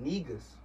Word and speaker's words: negus: This word negus, pronounced just like that, existed way before the N-word.